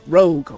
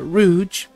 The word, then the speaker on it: Rouge: Next opponent is Mahat, and I'm going up against Rogue, or Rouge. However you want to pronounce it.